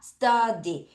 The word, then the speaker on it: study: study 자유가 어바음납니다. study 다시 study st디 아니야. study 다시 study t 발음할 때 천장 치라고 study 다시 study 잘했습니다.